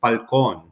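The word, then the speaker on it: Fallon: been answering it truthfully it's Falon uh but over the years my dad got tired of correcting the pronunciation so became and that's the way I've always pronounced it but it's wonderful to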